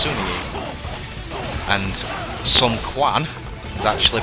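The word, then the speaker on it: Sima Yi: Like, even though that says Simi Yi, is actually pronounced Sumi Yi, and Sun Quan is actually pronounced Sun Tuan.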